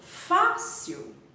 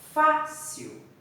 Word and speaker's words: fácil: é a forte e eu falo fácil a sílaba forte é fa fácil eu falo com mais força o sofá isso é